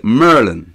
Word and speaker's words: Maryland: me if i'm wrong instead of maryland they say merlin is that right yes